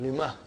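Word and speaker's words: لِمَ: So ha will come as a silent, lima. You are not pronouncing it because there is a sukoon on it.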